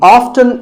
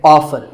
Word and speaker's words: often: next up is often some pronounce this as often now strictly speaking often is not wrong but the more common pronunciation is with the t silent so i recommend that you always say often one word that's often